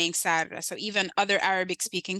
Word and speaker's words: Sarra: So if you get the A right, instead of Sarah, you say Sarra. That's like 85% of my name correct. And then you can ignore the R.